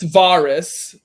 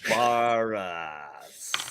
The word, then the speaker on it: Varus: pronounced Varus. Learn it or don't say it. Varus.